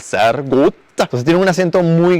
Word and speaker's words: sehr gut: En el alto alemán la R se pronuncia un poco como una G. Sehr gut, muy bien, por ejemplo. Pero en el suizo alemán es con R, entonces es sehr gut.